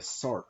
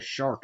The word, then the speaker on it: Sark: These are the Sark, which I always called the Shark as a kid because I didn't know how to pronounce anything.